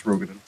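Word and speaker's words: Roegadyn: It's Rogaden. Always going They're to be wrong. Rogaden.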